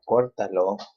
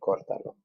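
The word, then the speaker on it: córtalo: these two together, and then we count third to the last syllable. 1, 2, 3. We put the accent right there. Okay, cortalo.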